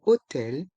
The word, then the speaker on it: hôtel: Et le H du mot hôtel est muet.